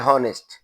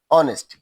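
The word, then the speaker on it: honest: তো তাহলে দেখা যাচ্ছে যে এখানে এইস থাকা সত্ত্বেও আমাদেরকে এইস এর উচ্চারণ না থাকার কারণে এর আগে কিন্তু আমাদেরকে অবশ্যই এন ব্যবহার করতে হবে।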